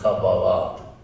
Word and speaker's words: Kabbalah: In Hebrew it would be pronounced Kabbalah. And what he did, what